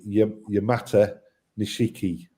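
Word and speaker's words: Yamato Nishiki: So, Yamatishki, if it's one that you'd like to say, um, I always pronounce it Yamata Nishiki to split it into two. I always remember it from the Yamoto battleship. Yamoto. Yamat Nishiki.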